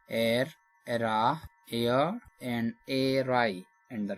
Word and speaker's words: Eyre: Question number 145 The surname of Charlotte Bronte heroine Jane Eyre is pronounced as। We have option यानी जो air, era, air and airy, and the right answer is option A air के नाम।